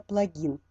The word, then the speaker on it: плагин: Но вот то, что я взяла вот эту информацию из Википедии, Википедия говорит нам, что нужно все-таки ставить ударение на плагин.